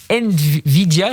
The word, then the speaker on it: Nvidia: Et puis, nouvelle acquisition israélienne pour un groupe américain, Nvidia, je prononce bien, Eric ?